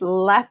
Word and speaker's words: Leap: did my notes because it's spelled leap l-e-a-p and be because this is ireland it's lep castle so that's what i'm